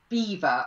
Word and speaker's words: Belvoir: and it involved the witches of Beaver, or it's spelt Belvoir Castle.